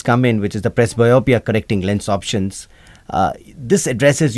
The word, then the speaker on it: presbyopia: ask you shout out let me get this pronunciation right what are presbyopia correcting lens implants did I get that right press biopia yep what exactly are they